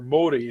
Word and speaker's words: Māori: you sing it once in Maori, or Māori is how you'd actually pronounce it, and then you repeat the same song but in the English language.